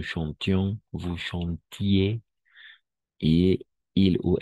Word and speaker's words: chantions: Nous chantions, en este caso sí vamos a pronunciar IONS, nous chantions, vous chantiez, et il ou elle chantait, n'est-ce pas?